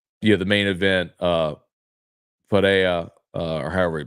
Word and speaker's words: Pereira: the main event uh Fara or however P Fara F however they say I know they say it with an accent but it looks like Pereira but it's pronounced like Vera um I don't know